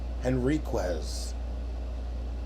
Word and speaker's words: Henriquez: Henriquez. Excellent pronunciation right there.